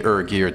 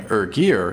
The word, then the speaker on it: ErGear: That's what the name ErGear is about. I wrote to the company and asked how to pronounce the name. Here's a direct quote. The ER part comes from the first two letters of ergonomic, and their website backs that up.